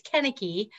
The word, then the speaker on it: Konecki: Well, if it goes Konecki, it is a hickey from a Hallmark store, but it's usually it's Konecki. Like Kennedy with a kick.